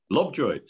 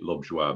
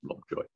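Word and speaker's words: Lobjoit: Lovejoy, just like that. Yeah, but it's French originally, so it should be Lovejoy, but everybody says Lovejoy. So. Very exhausting. So silent T.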